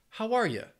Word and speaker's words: How are you: how are, and then that last word, you, is going to have that schwa, that ya, how are ya?